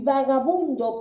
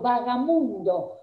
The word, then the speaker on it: vagabundo: correcto de estas palabras entonces murciélago por murciégalo y vagabundo por vaga mundo por la cual la